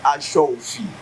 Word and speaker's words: aṣọ òfì: òkè or aṣọ òfì the correct pronunciation is aṣọ òfì la ní aṣọ òfì